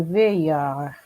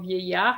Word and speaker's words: vieillard: C'est un vieillard. Okay. Not quite right for the pronunciation of vieillard is vieillard. But the good thing about it is that you didn't pronounce the D.